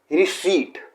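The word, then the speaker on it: receipt: तो ये वर्ड है रिसीट। रिसीट अगेन इसमें पी को साइलेंट किया जाता है, इसे पी को साइलेंट किया जाता है, तो ये है रिसीट।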